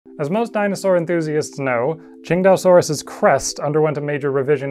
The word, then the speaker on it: Tsintaosaurus: I am pronouncing this Chingdaosaurus. For once, we have a dinosaur made in China that was found in China, and the city it was named after is pronounced something like Qingdao.